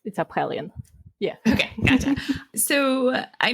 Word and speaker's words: Aphelion: Okay, it's Aphelion, like the astronomical term.